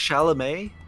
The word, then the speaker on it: Chalamet: pronounced Chalamet.